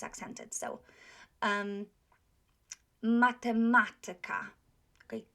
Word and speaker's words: matematyka: So, matematyka. Tyka is not accented. The syllable before tyka is accented. So, matematyka.